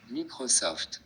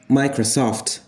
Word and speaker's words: Microsoft: rhythm of languages, because in English you say Microsoft. You have this dual stress in this word. The stress falls on the first syllable a bit, micro, and soft as well.